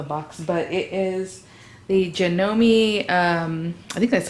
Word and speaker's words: Janome: still in the box but it is the janome um i think that's how you pronounce it right it's like janome but you know me fast lane sewing machine